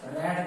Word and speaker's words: read: ठीक, लेकिन इसको रेड करके पढ़ते हैं इसलिए ये हो जाता है। ठीक है, रीड रेड, यहाँ पे बदल जाता है इसका प्रोनाउंसिएशन।